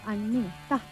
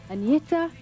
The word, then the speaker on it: Agnetha: Hello, I'm Agnetha. I know it's very hard for you to pronounce, but you can say Agnetha or you can say Anna.